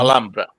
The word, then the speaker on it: Alhambra: Memories of the Alhambra, which I can never pronounce. Alhambra.